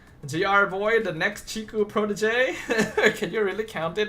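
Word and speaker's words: protégé: When we call them Chiku proteges, we're not calling them prodigies. In case anyone doesn't know what that word is spelled. Protege. Both of the E's have the accent. That's why it's pronounced like that.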